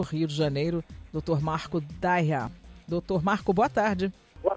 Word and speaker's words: Daiha: É Daia, Marco Daia. Daia, não tem a pronúncia do H.